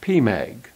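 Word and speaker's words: PMAG: this the primary magnification spelled p.m. AG and pronounced P Meg if we look at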